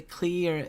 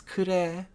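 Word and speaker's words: Klee: know if there's an english pronunciation of it but i guess a few of us say clear and in japanese is kure uh but i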